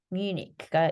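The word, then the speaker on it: Munich: 그런데 영어 이름은요. 뮤니크가 있습니다. 뮤니크가 돼요.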